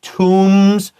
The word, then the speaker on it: tomb: shabtis were placed inside tombs with the deceased and their belongings So a tomb O-M-B Remember 當你有M-B 不可以發那個B 所以它是tomb and它也是那個U的翻譯 like五 shabti 請誰下來所以在這邊這個地方還有幾個重要的字詞會呢老師剛剛講了第一個就是tomb tomb這個字的意思是墳墓然後這個b的話是不發音的然後這邊注意一下 tomb這個字然後它的母音的話是moon 那個長音的u的那個聲音 tombs 然後第二個就是the deceased 好這邊地方要特別小心的是